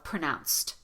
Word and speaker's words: pronounced: that are past tenses, you do want to make sure that both sounds are pronounced. So pronounced. Both sounds are pronounced. Right? I pop that out because I want to make sure that you heard that I said pronounced instead of both words are pronounced. Both words are pronounced. Both words are pronounced. That sounds like a grammar mistake, but I didn't make a grammar mistake. I just left off the T.